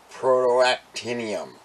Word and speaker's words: protactinium: may be out here Jason Carlson number 44 protactinium that's how you pronounce it and I did not look it